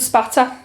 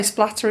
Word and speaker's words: spatter: So it's blood spatter. Most people say splatter, it's not. That's what you do when you're cooking sausages, you splatter the oil. I've been saying it wrong this whole time.